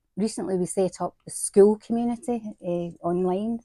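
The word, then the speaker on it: Skool: Well, we've recently recently we set up the school community uh online. It's It's spelled s k o o l school.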